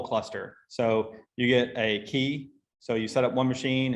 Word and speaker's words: k3s: a service called it's it's pronounced keys apparently but it's k3s which is a um